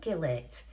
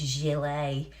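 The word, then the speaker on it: gilet: Went, "What do you mean, Gillette?" "Well, of course it's Gile."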